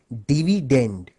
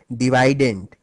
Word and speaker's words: dividend: By the way, the correct English pronunciation of this word is actually dividend. But since dividident rhymes better with divisor, thus the students prefer to call it dividident.